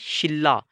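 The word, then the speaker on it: 신라: में बदल जाती है मिसाल के तौर पर यह शिनरा अब शिनरा लिखेंगे तो शिनरा लेकिन जब हमने इसको पढ़ना है प्रोनाउंस करना है तो यह बन जाएगा शिला असल लफ जो है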